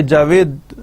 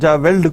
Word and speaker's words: JAVLD: کرنے کے لیے JAVLD, ایل ہم اس میں سائلنٹ رکھ رہے ہیں, تو یہ جاوید ہم اس کو جاوید پڑھیں گے, جاویلڈ کو ہم جاوید پڑھ رہے ہیں.